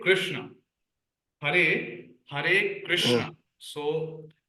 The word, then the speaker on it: Krishna: this question yeah definitely it's not Krishna but it's Krishna okay would you are